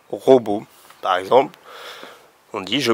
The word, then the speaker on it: robot: qu on pourrait écrire un ro beau avec le thé à la fin qui ne se prononce pas un robot par exemple on dit